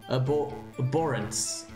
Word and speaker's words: abhorrence: Abhorrence. Abhorrence. Abhorrence, okay, because the H makes, okay, the hollow sound, yeah.